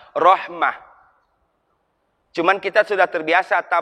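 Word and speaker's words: رحمة: berasal dari kata Rohimah Sebenarnya bukan Rahmat itu bahasa Indonesia Kalau bahasa Arabnya Rohmah cuman kita sudah terbiasa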